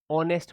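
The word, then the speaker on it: honest: तो आप बोलोगे कि सर आपने बताया था एच साइलेंट रहता है। इसको ऑनेस्ट पढ़ा जाता है। तो क्या पढ़ा जाता है? सॉरी इसको पढ़ा जाता है। इसका प्रोनाउंसिएशन जो होता है, वह होता है ऑनेस्ट।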